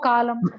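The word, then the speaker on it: column: அதுதான் வரும் இப்ப பாருங்க இதுல எம் என் அப்படின்னு தான் எழுதணும் எழுதுறப்ப சிஓ எல் யூ எம் என் னு எழுதணும் ஆனா படிக்கிறப்ப காலம் காலமே காலம் வந்து தூண்னு போடுங்க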